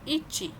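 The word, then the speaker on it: 一: okay या फिर वन को आप क्या कहेंगे इची एक ओके सेम सेकंड सेकंड क्या होता है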